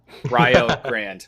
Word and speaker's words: Rio Grande: university of rio grande rio grande right that is that is the correct pronunciation just to make sure